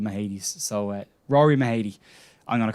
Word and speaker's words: Mahady: unaware of the pronunciation of the name it's mahadi and they might pronounce different in scotland the name in ireland